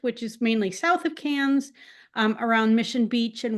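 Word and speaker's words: Cairns: KS but it's pronounced cans Australians take the RS out of a lot of words and they add in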